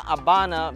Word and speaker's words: Habana: La Habana because this is the Spanish version. The English version is Havana. In Cuba they pronounce V as B.